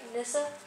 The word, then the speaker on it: Nissa: Nissa or where Nissa is from am I pronouncing that right Nissa how do you pronounce it well that's where